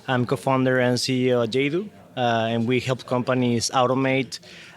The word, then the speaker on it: Yaydoo: And pretty much the name is it means the pleasure of doing things, and is the combination of the expression yay, of happiness, and do, of doing.